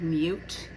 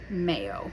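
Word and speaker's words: Meaut: live off of a main road that's called mute it's spelled m-e-a-u-t but when it was originally listed on the road map it was called Mayo because it's French Cajun so uh we're in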